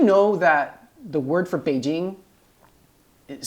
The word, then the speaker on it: Beijing: and A J and it's now pronounced Beijing well I guess people in international new news organization they say Beijing it's kind of weird but it's actually Beijing right but why the